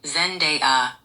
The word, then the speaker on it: Zendaya: Zendaya pronounces her name Zendaya, rhyming with There's been a day. She has explained it as Zen, then day, then a.